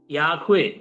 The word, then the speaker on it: യാഹുവേ: മൂന്ന് പ്രയോഗങ്ങളും ഉപയോഗിക്കുന്നത് തെറ്റല്ല എങ്കിലും ഭാഷാപരമായിട്ട് ഉപയോഗിക്കുകയാണെങ്കിൽ യാഹുവേ എന്നുള്ള വാക്കായിരിക്കും കൂടുതൽ ഈ വൈ എച്ച് ഡബ്ലയുഎച്ച് എന്ന് എഴുതിയിരിക്കുന്ന അക്ഷരങ്ങളെ അക്ഷരങ്ങളോട് നീതി പുലർത്തുന്നത് അതായിരിക്കും കൂടുതൽ ശരിയായിരിക്കുന്ന ഒരു ഒരു ഉച്ചാരണം ഒരു പ്രയോഗം അപ്പോ നാമം എന്ന് പറഞ്ഞാൽ